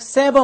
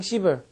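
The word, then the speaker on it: sever: 세 발음 잘하셔야 돼. 이거 시 이렇게 읽는 사람이 있는데 그런 사람이 문자 보내면 그냥 시ver 시요.네 이렇게 하시고요.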